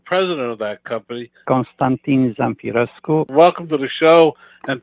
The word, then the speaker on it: Zamfirescu: And the correct pronunciation is Zamfirescu.